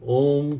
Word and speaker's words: ओम: ओ की आवाज़ आते वक्त हमिंग आपके सीने में होनी चाहिए। ऊ की आवाज़ या अंग की आवाज़ आपके कंठ में और म की हमिंग आपके सर पे होनी चाहिए।